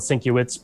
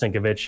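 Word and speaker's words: Sienkiewicz: is another guy named bill cincovich uh or it's spelled syncowitz but it's pronounced syncovich and it's on twitter if you want to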